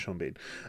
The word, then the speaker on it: Sean Bean: Lewis, Sha Bean, or Sheen Bourne. I don't know how you pronounce that. I'm joking. It's Sha Bean.